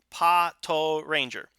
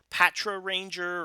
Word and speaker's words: Patoranger: the katakana is toe so paw toe Ranger I don't know where this Patra Ranger or anything like that is coming from that that's an improper translation it is pot toe that's what it's spelled as that's how I'm gonna be saying that because I am 100% sure that that is how you're supposed to go ahead and say it if I've learned anything